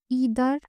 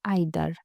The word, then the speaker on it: either: সই আইটি এইচই আর এই শব্দটা দুইভাবে উচ্চারিত হতে পারে একটা হচ্ছে ইদার আরেকটা হচ্ছে আইদার ইদার হচ্ছে আমেরিকান এক্সেন্ট আর আইদার হচ্ছে ব্রিটিশঅসেন্ট আর এনই আইটি এইচই